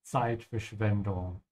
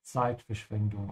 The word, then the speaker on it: Zeitverschwendung: Das ist Zeitverschwendung. And also remember that the Z sound in German is like a TS sound.